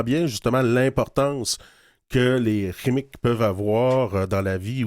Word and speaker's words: Qimmik: En fait, on prononce Chimique.